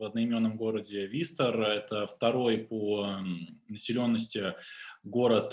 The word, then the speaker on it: Worcester: Школа Worcester Academy, правильно читается, находится в одноименном городе Worcester.